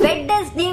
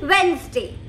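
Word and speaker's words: Wednesday: Number three, इसे हम बुधवार बोलते हैं हिंदी में, लेकिन इंग्लिश में इसे कई लोग वेडनेसडे बोलते हैं, वेडनेसडे। गलत प्रोनाउंसिएशन है, सही प्रोनाउंसिएशन है वेंसडे, वेंसडे।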